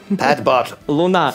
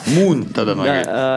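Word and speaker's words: Luna: Называется проект Pet Bot Луна луна Мун нет Луна не Мун Луна так называется по-английски написано и да возможно ты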